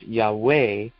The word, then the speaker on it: Yahweh: And then he puts in parentheses, thought to be pronounced Yahweh with the accent on the second syllable.